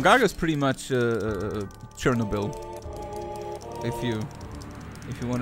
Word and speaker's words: Chernobyl: no um Chernobyl Chernobyl Chernobyl like Cherno bull that sounds what Chernobyl Cherno balls Accent on the no what Chernobyl Chernobyl Chernobyl